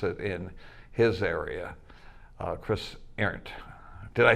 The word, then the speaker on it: Arend: Chris Arend. Did I say it right, Chris? Arend, like the type of thing you run, running an errand, Chris Arend.